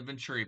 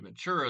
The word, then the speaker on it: Ventura: You wouldn't have got the sports coupe package and the Venturi package, as you want to call it. It's actually Ventura is how it's said, but Venturi is what you like to say.